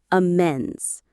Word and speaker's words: amends: And that's when you need our next word, amends. Let's say it. Amends. Simple one. Amends. Amends. The stress is on the second syllable, amends.